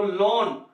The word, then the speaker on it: loan: अगर एग्जांपल पे देखें तो लोन, LOAN, यहां भी ओ जो है ए को बोलने नहीं दे रही है, ए यहां भी साइलेंट है।